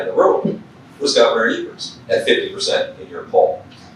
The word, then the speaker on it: Evers: We had President Biden in the state, and he was in Superior, Wisconsin with Senator Baldwin and Governor Evers, or Evers, as he likes to pronounce it.